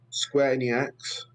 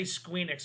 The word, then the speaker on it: Square Enix: enix and epic games it hurts that you didn't say squeen x properly but i'm going with a square we just we just pronounced it all together it's square enix i'm going square enix